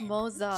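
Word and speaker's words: Moze: And as for the Xianzhou Juming, me and Grandpa, Oh, it's pronounced Moza.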